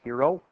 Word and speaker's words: Heron: cool all right so this formula H ER om but a lot of people pronounce Hiro probably just because it's easier for us to say here in America here in Hiro's law